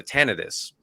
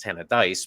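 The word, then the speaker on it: Tannadice: and I said Tanis I was worried that I was mispronouncing it uh as it turns out I was because it's t of dice but that's neither here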